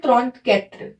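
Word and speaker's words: trente-quatre: 34 को बोलते हैं त्रॉन्त कैत्र।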